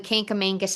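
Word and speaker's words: Kancamagus: I think it's pronounced Kankamagus Highway, right? Am I right? Yes, so I'm pretty sure you're right. So my mother still and other New Englanders say I say it wrong. Okay. They say it's called the Kankamangas Highway.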